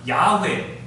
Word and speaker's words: 야훼: 보니까 그렇게 발음하다 보니까 야훼, 우리말 표기로 여호와가 된 것입니다. 언어학자, 성서학자들은 야훼가 좀 더 정확한 표현이라고 해요.